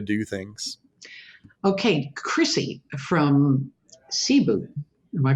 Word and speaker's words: Cebu: different way to do things okay Chrissy from Cebu am i pronouncing that right CEP you yeah one of the airline Cebu Pacific is